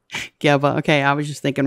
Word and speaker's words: Geba: Geba. Geba.